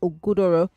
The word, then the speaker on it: Ogudoro: It's Ogudoro. Ogudoro. You got close. I give you 75%.